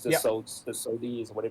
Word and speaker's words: Sodi: It's the Sodi is what they pronounce it, the normal rental.